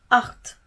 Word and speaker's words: acht: Nah, untuk CHT ini kita bisa ambil contohnya dari kata acht. Acht yang artinya angka 8. Ya kan, kalau didengar betul-betul hampir mirip pengucapannya gitu.